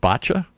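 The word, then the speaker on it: Báite: I'm going to see if I can pronounce it in Irish. Is it botcha?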